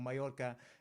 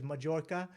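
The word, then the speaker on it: Mallorca: people pronounce chorizo correctly or mayorka um not quali like the worst one for me is when somebody says majorca because they've seen english spelling of it with a j and that just sort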